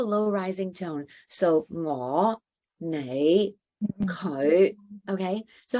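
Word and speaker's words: 你: It'll come out sounding more like an L because N in Cantonese a lot of times just gets said as L. So you'll hear lei instead of nãy.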